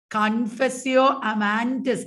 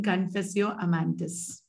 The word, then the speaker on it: Confessio Amantis: Zuma said it right. YouTubers, you are also saying it right. It is Confessio Amantis. Amans is the lover in Confessio Amantis.